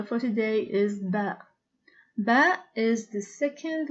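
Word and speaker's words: باء: in the same position as far as the pronunciation of the it is similar to the bay of book it is named bear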